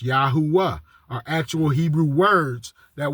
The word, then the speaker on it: Yahuwah: uh Moses his name the three Hebrew words that his name is based off of is also three syllables yahuah are actual Hebrew words